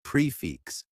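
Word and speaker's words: prix fixe: to increase romantic feelings Expressions explained prefixing say pronounced prefix is a French term meaning a complete meal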